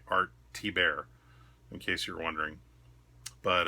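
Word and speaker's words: Thibert: great artsy bear cover that is how you say it by the way art T bear in case you're wondering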